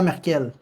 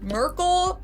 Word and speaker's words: Merkel: In English, she's usually referred to as Merkel or when people say the full name, it's either Angela Merkel or some people say like Angela Merkel. In German, it's pronounced Angela M. Angela M. This one isn't too far. I feel like there's between Ma and Merkel.